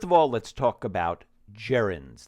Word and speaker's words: gerund: all let's talk about jirens that g is pronounced like a j Jaren JNS I like